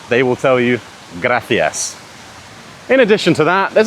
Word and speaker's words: gracias: Likewise, words, or letters, should I say, like C and Z are pronounced like th. So, think. It's not Barcelona, it's Barcelona. In Spain, rather than saying gracias, they will tell you gracias.